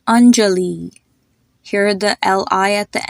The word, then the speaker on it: Anjali: Another example is the name Anjali. Hear the Li at the end. Anjali.